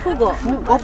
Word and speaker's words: Pugo: 야 포고 아고 포고 포고 이거 아 아 아 렉 렉이야 렉이야 It's pugo.